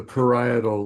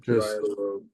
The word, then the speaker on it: parietal: Uh it's pronounced the parietal lobe. Okay. Paral not to be I don't know just I guess Thank you.